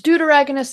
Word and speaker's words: deuteragonist: like doot in deuteragonist it's deuteragonist like antagonist deuteragonist is like spelling duet but you switch the U and the E and then er eh goodness that's nice about deuteragonist deuteragonist that is how you say it but for short